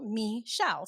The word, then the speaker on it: Michelle: but people call me Michelle and it just it just stuck with me and also because the mi in Spanish is pronounced me like mine so me shall so I kind of